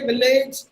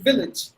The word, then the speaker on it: village: not the long sound so we say millage no it should be village v glitch village call